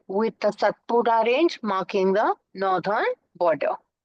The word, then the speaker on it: Satpura: p u r a in Hindi they use the D alphabet to call it satpura they don't call it satpura they call it satpura